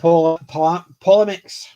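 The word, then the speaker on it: polemics: and powerful tackling dark philosophy philosophical themes nope polymex p-o-l-e-m-i-c-s just in case people think i'm actually mispronouncing it i probably am but no no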